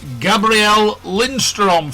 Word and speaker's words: Gabriel Lindström: I'd like to welcome to the Back Seat Driver Radio Show, Gabrielle Lindstrom from Sweden. Good morning, Gabrielle. Have I pronounced your name correctly?